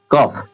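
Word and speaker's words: cough: ना लास्ट में देखिए जी एच है इनफ इनफ इनफ इस जी एच को क्या बना दे रहे हैं जी एच को क्या बना दे रहे हैं फ इधर भी जी एच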